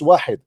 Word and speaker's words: wahid: You do not even know how to say it is not wahad, it's wahid.